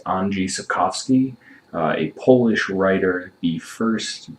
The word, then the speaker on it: Andrzej Sapkowski: of novels written by, I'm going to pronounce this horribly wrong, so I am sorry, but I do believe it's pronounced Andrzej Sapkowski, a Polish writer.